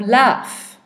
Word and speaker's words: laugh: For example, we have laugh, which is an F sound, and it's spelt with a GH.